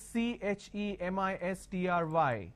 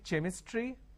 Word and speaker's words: chemistry: A word which is CHEMISTRY. Can I say chemistry? No. The pronunciation is chemistry.